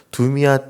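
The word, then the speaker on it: דומיה: 이렇게 번역된 부분의 히브리어는 두미아 테일라고 발음을 합니다.이 테일라는 찬양이란는 뜻이고요.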